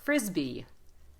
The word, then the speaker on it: frisbee: end frisbee yeah now keep the Yi part of it just make it a little shorter frisbee frisbee frisbee good if